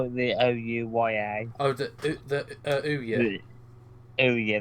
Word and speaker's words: OUYA: Oh, I'm gonna call it the OUYA. Oh, the Ouya. Oh yeah, that's it. It's basically you pronounce it like two O's and yeah at the end. It's like ooh yeah.